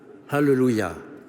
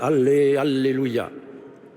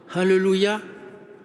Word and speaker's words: Alléluia: l'arrête pendant le carême, ou de nos refrains qui le coupent à faux en syllabes françaises, Allé, Alléluia, pour l'amplifier, mais à contresens. Alléluia n'a rien d'emphatique. Prononçons bien le H aspiré initial.